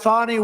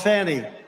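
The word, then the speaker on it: Fani: destroyed because of fonny f a ni I fny you have to pronounce it fonnie it's called Fanny you have to pronounce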